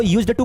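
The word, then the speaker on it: used to: मतलब सामने वाला तो यूज्ड टू बोलने की कोशिश कर रहा है, लेकिन कभी कभी यूज्ड टू आपको सुनाई देगा।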